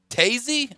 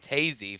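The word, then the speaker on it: Toews: Chicago Blackhawks captain Jonathan Taves. My God. It's a W, but it's Taves. Well, the guy the video I watched pronounced it Tazy for some odd reason, tried to get it right, will be out indefinitely with illness.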